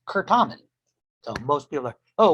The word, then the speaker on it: Certamen: And it is pronounced Curtamen. So most people are, oh, what's Certamen?